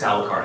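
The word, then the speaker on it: Alucard: the big battle about alard is it alard or AR card it's alakar it's Dracula backwards but you know thank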